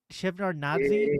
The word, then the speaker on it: Shevardnadze: So this was going on in Georgia under President Edward Shevnad Shevardnadze, I think is how you say it.